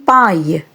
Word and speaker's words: paille: So the pronunciation of the French sound AILLE is same as the pronunciation of AIL.